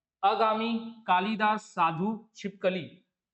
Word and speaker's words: कालिदास: कालिदास, इसमें जो है वो ल में जो आती है छोटी की मात्रा आती है। प्रोनाउंसिएशन में भी आप देख रहे हैं, उच्चारण में भी आप सुन रहे होंगे, तो कालिदास।